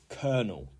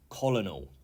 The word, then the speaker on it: colonel: beer yes number eight is Kernel kernel not colonal okay and this is somebody